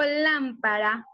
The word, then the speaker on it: lámpara: Si yo digo lámpara, ¿dónde tiene la mayor fuerza? En lámpara. Si yo digo mariposa, ¿dónde tiene la mayor fuerza?